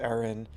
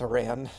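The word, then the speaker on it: Aran: Enter Samus bounty hunter Samus Aaron. I used to call her Samus Iran. I used to mispronounce her last name.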